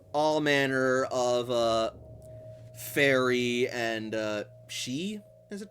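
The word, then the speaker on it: sidhe: you ask, for all manner of fairy and she, is it pronounced?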